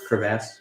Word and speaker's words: crevasse: Crevasse. Crevasse? Crevice. No, No, crevice is VICE. Crevasse is it's crevasse. VASSE.